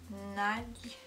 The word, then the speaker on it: nagy: So, nagy is difficult to pronounce for me. Nagy, the G and Y.